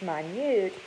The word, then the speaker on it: minute: Remember, minute gets spelled the same way as minute, but in this sentence it's minute and it means tiny.